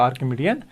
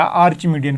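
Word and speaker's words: Archimedean: तो ये भी आपका आर्किमिडियन फील्ड होता है, या आर्चिमिडियन फील्ड भी बोलो या आर्किमिडियन फील्ड, जैसे प्रोनाउंस करना चाहो कर सकते हो.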